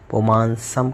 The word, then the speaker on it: पुमांस: उच्चारण करते समय मैंने पुमांसम कहा था, तो जब हम विच्छेद करेंगे तो पुमांसम होगा। उच्चारण करते समय आपको पुमांस बोलना है, क्योंकि इससे छंद की जो गति है वो ठीक बैठेगी। और इसके बाद में मादित्य